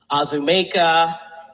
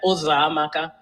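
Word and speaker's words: Uzoamaka: And I would have teachers or anyone, neighbors, try and say my name, and it would be Azumeka, Uzamaka, Uzokuza, any version that they could think of other than Uzamaka.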